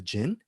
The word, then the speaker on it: Djinn: was going to be definitely least was the gin is that correct they might pronounce pronouncing it right sparky the gin yes i say cold gen and now we're